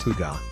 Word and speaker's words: hygge: Pronounced Hygge, the Danish word means comfort, and who couldn't use more of that?